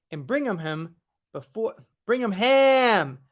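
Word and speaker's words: Birmingham: bring him him before bring him ham like ham like bologna cheese ham not him like him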